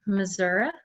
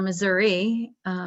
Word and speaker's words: Missouri: And I work in Missouri, or Missouri, depending on how you want to pronounce it. And some folks say it depends on which political party you're in and how you pronounce our state's name.